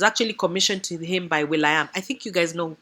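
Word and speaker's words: will.i.am: commissioned to him by William I think you guys know who will I am is spelled William but it's will I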